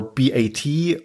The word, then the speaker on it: B.A.T.: Is it BAT or B-A-T or something else entirely? That's a great question. I think, in France, it was BAT because it was Bureau des Affaires Temporelles, which has been translated